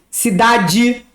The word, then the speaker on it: cidade: E tem o caso onde o E está no final da palavra. Por exemplo, cidade, maldade, qualidade, idade. O E tem som de I.